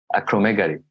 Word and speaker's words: acromegaly: Acromegaly.